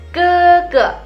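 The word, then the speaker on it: 哥哥: Kakak laki-laki atau koko kita bacanya keke.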